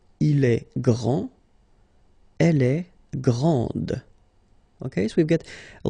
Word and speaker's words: grande: Okay, so grand, and then the feminine form, grande. Okay, so you put this and then you get the sound D, grande.